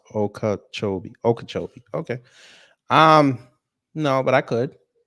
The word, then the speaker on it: Okeechobee: It's pronounced Okeechobee.